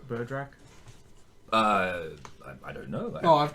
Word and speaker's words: Berdrak: Berdrak. Berdrak.